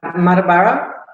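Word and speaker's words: Mundubbera: Yes, Doug, Muddabura, that's correct. You've done a good job at pronouncing that. That's terrific.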